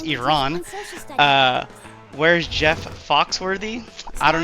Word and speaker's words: Iran: It's not Iran, it's Iran.